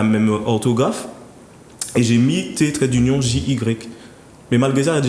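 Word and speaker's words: Teggy: Alors, en fait, c'est écrit T-E-2-G-Y, mais les 2 G se prononcent en J. Donc, pour ne pas que les gens se disent, parce que souvent, quand j'étais petit, mes professeurs, ils disaient c'était.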